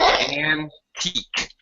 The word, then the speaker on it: antique: I don't know okay uh two syllables antique okay antique an an an anti an an antique and then okay and that's right and then take pen okay yeah oh yeah